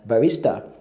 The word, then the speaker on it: barista: That's the one now that is pronounced as barista, and it refers to someone who serves coffee in a coffee shop.